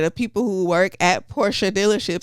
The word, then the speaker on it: Porsche: at Porsche dealerships saying that it is pronounced Porsche, and you pronounce it Porsche, and somebody will still tell you you're wrong, Porsche. And that is Porsche. Even though the people who work there say that it's Portia.